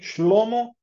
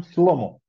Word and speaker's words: Shlomo: Fin SN por exemplo em vez do nome shlomo schlomo eles respondiam slomo e em vez de